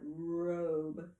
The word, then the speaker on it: robe: The O think think about it. Robe. The O would be long. Long. And that means following our vowel rule, if the first vowel is long, the second vowel is silent.